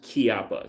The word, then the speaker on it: Chiappa: It's actually pronounced Chiappa. CH is pronounced K.